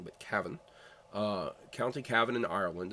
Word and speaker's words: Cavan: But Cavan, County Cavan in Ireland.